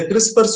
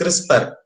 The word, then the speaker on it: CRISPR: So for the beginners, the CRISPR should be pronounced with an E. So we call it is CRISPR. So for pronunciation, we put an E, so we call it CRISPR.